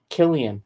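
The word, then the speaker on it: Cillian: to be fun uh Seline is an old Irish name pronounced Killian oh Killian okay shows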